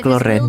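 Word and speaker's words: Clorinde: Tulisannya Chlorine tapi dibacanya Cloren.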